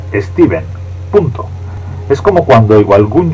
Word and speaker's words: Stephen: steven king stephen king aunque se escribe con ph su nombre se pronuncia steven punto es como cuando